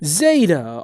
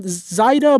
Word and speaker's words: Zaida: Zaida. Alright, now there's another pronunciation, Zaida, but I don't care. I'm saying Zaida.